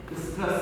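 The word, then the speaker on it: oestrus: ओएस्ट्रस, इसको पढ़ते हैं स्ट्रेस साइकिल, ओ यहाँ पे साइलेंट है।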